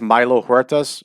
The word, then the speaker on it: Huertas: I think it's Milo Huertas is how he pronounces it.